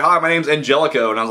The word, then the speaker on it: Angelico: funny he said he he said his name was Angelico and then everybody pronounced it inh helico like the rest of